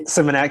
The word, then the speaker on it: Symmonett: With, is it Symmonett? Is that how you pronounce that? Yeah, Symmonett, correct?